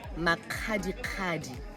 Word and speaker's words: Makgadikgadi: Actually, in Botswana, we say Makgadikgadi. The KG is very aggressive.